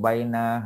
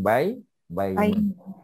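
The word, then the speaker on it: بين: Ya, tetapi untuk baina hanya dua cara ya, yakni baina dan baini ya, kalau ada preposition depan.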